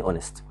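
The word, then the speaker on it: honest: احنا بنقول ان اونست طب ازاي بنقول ان اونست بالرغم ان انا قدامي في الجمله هنا الكلمه باداه بحرف الاتش وده حرف من الحروف الساكنه حضرتك بتنطق اول حرف في الكلمه او فبتقول او نست والاو ده متحرك فناخذ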